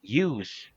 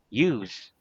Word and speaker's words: use: is a verb and with the letter s use is the noun Okay so let's practice